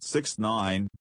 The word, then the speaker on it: 6ix9ine: Daniel Hernandez, born May 8, 1996, known professionally as 6ix9ine, pronounced 6ix9ine, or Tekashi 69, also stylized as Tekashi 6ix9ine, is an American rapper.